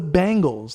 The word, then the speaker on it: Bengals: It's the Bengals, like bang.